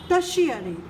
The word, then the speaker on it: tertiary: The third is टर्शियरी। This word TERTIARY is pronounced as टर्शियरी।